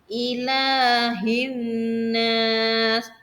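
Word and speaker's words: إِلَٰهِ النَّاسِ: Ila, lanya harokatnya fathah berdiri, berarti harus panjang 2 harokat. Ilahin nas. Ilah. Tidak boleh panjang banget, panjang aja ya.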